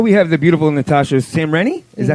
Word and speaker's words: Samreny: Well, we have the beautiful Natasha Samreny.